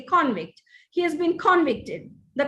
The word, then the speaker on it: convict: The convict was here, he's been convicted. No, the convict is here and he's been convicted. When you use it as a verb, make sure you move the accent to the second syllable.